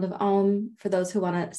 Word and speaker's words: Om: and then we'll do om five times reminder almost a u m and silence four syllables so take a simple